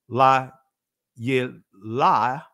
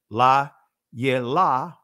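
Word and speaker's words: לילה: right so Li uh this right here is giving you the Israeli la la right I'm saying it again la la right that is the Israeli pronunciation of it but anyway not getting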